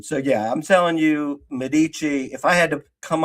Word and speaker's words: Medici: And and I believe, you know, not not to uh rain on your parade, I believe it's pronounced the Medici.